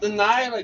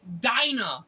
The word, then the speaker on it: Dinah: It's not Delilah. God damn. That's how it's spelled. It's Dinah.